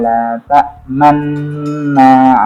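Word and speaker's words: لا تأمنّا: Cara bacanya itu adalah memonjongkan kedua bibir, tapi tidak berbunyi. Qalu ya abana ma laka la ta'manna ala Yusuf.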